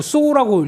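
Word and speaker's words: SAW: 어 가장 큰 강점이 이 SA고 읽지 않고 쏘라고 읽더라고요 예 그래서 쏘 필터라고 얘기를 하는데 아쏘 예 이게 보면은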